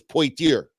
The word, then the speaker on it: Poitier: the family and he says again cuz Sidney Poitier spells it the same way but he says that they way they pronounce it is point ear okay points here him